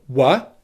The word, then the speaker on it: were: of the word were you will never stress this pronunciation so if you're ever going to stress the word were you will always use the strong pronunciation which is you only ever use the word wha in unstressed situations and here's why this